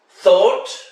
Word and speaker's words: thought: like arnold schwarzenegger tough when gh is silent thought high ate the number